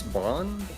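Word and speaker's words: Bonne: is like the the bone family where he is I think it's Bon probably yeah they they pronounce it Bon I feel like it's meant to be bone because they're Bon it Rhymes yeah Tron bone I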